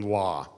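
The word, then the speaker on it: לא: even get that right the original pronunciation must have been law it couldn't have been low probably the masteries who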